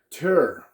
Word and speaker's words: Tyr: in the last video, some people have pronounced it Tyr or whatever, Tyr is what they call it. But I looked it up. It's like a Nordic thing called, it's just pronounced Tour.